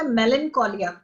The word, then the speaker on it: melancholia: okay ma'am and ma'am एक pronounce दसते MELANCHOLIA last वाला मेलनकोलिया मेलनकोलिया मेलनकोलिया मेलनकोलिया मतलब जदों तुहानू उदासी घेर